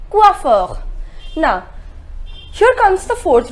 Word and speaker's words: coiffeur: we say we offer the pronunciation is coiffeur na sure comes the